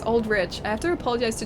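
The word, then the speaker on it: Aldrich: to make tea uh trailer does pronounce it as Rich I just watched it really it does okay so it's old rich I have to apologize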